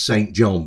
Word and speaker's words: St. John: John, that's St. John but it's pronounced St.